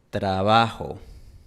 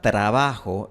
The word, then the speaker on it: trabajo: La palabra trabajo en la Sierra Ecuatoriana se suele pronunciar así. Trabajo. Trabajo. Trabajo. Esto no es exclusivo de la Sierra Ecuatoriana, también lo puedes escuchar mucho en Santiago de Chile. Trabajo. Cuatro. Y de hecho es una pronunciación muy similar al inglés. En inglés nadie dice train, todo el mundo dice train. Así que es muy similar a la pronunciación del inglés.